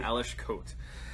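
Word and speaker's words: Aleš Kot: I've really enjoyed generation gone number two by Alice Coates I think that we asked Mila and that's how she said it's pronounced works for me Eilish coat so the whole premise of this is did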